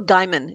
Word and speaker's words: Gaiman: It's Neil Gaiman, not Neil's.